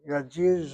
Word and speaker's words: yedidi: just the tzere now as the accent is on the last syllable. You don't say yedid, you say yedidi.